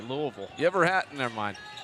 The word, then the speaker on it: Louisville: Party Louisville Lou see I said it right Louisville you ever had never mind you know Louisville